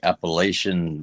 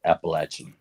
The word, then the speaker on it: Appalachian: Uh, most people say Appalachian, but around here we call it Appalachin.